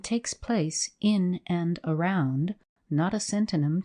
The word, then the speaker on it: Knotacentinum: But the scene of this narrative is laid in the south of England, and takes place in and around Knotacentinum Towers, pronounced as if written Nosham Taws, the seat of Lord Knottacent, pronounced as if written Nosh.